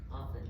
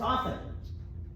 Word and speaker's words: often: It's somebody who pronounces the letter T in the word often. Often. It's often. It's not often.